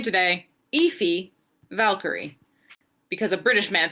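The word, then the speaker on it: Aoife: and learned how to say this name today ify valkyrie because a british man said and i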